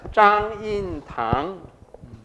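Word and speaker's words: 張蔭棠: Zhang Yin Tang. Yeah, in Mandarin it's pronounced as Zhang Yin Tang.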